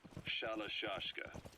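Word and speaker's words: Shalashaska: Someone must have known about that, because somewhere along the line, Shashka got stuck on the end of Sharashka. The guerrillas were using the name amongst themselves, and by the time I got to hearing about it, pronunciation had wound up as Shalashashka.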